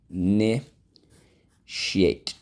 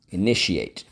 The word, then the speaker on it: initiate: Really, that is how you're supposed to say it. Initiate. Initiate. It goes by really quick. I know it does sound like another syllable, but technically it's not.